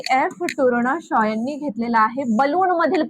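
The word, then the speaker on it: Tournachon: वरून कट टू कट त्यानी टूर्ण घेतले पण ते टूरणाशा अस आहे ठीक आहे त्याचा प्रोनन्सिएशन तशा प्रकारे होत असतं जे एफ टूर्णाश आणि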